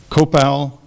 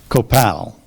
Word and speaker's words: copal: copal are there any alternate PR there are copal or copal copal first pronunciation copal cop c o p a l